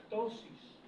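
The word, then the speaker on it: ptosis: Eso se llama tosis. Tiene una P por delante, pero no se pronuncia la P.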